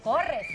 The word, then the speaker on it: Corres: Oye, ¿pronunciamos bien tu apellido o no lo pronunciamos Corres, bien? ¿No? ¿Es Corres? ¿De Corres o...? O Corres. Corres. ¿Cómo estás? Bienvenido. Pero Corres.